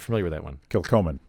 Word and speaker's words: Kilchoman: Kilchoman. Kilchoman.